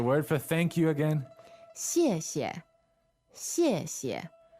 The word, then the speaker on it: 谢谢: So in pinyin, that's X-I-E, fourth tone, and then X-I-E, neutral tone. Right. 谢谢，谢谢. Yeah, you can hear how the first syllable has a stronger xie to it, right? And the second one is neutral.